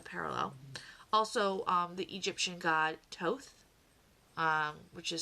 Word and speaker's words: Thoth: Also, the Egyptian god Thoth, which is spelled Thoth. So if you're not familiar with the pronunciation, it's pronounced Thoth.